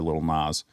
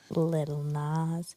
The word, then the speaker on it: Lil Nas: Now we've transitioned into Will Smith, not Billy Ray Cyrus or Lil Nas. Little Nas.